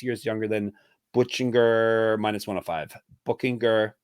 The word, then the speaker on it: Buchinger: Buchinger. We'll call him Buchinger. His nickname is Bookie. That tells you how to say his name right there.